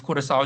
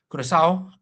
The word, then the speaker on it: Curaçao: Next, we have Germany, Curaçao, I do believe Curaçao is how you pronounce it, Côte d'Ivoire, Ivory Coast, and Equad- Ecuador.